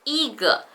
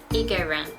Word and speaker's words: 一个: When a character after it is the first tone, it's pronounced as the second tone. So it's not 一个, it should be 一个.